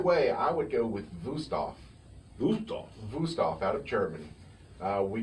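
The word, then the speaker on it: Wüsthof: But either way, I would go with Wusthof.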